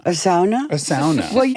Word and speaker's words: sauna: pronounce it SAA cuz we say sauna but I had a girlfriend whose father was finnished and he said it's a SAA we invented it it's SAA a sauna a SAA well say you could